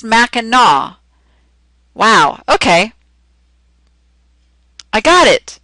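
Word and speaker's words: Mackinac: Oh, it's spelled Macinac, but it's pronounced Minaw.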